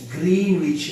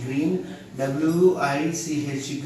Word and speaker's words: Greenwich: Greenwich line. GREEN, green, WICH, Greenwich, or Greenwich also correct only pronunciation.